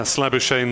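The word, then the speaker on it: Labuschagne: two for four yeah slabby shane rhymes with champagne was the uh the easier version that i was told although uh probably when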